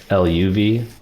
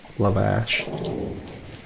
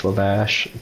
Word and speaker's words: Lavash: Lavash, L-A-V. Luvush. No. Luvash. Or ASH. Sorry, Luvash. Luvash. Lavash, depending your accent. Depending on how north you are.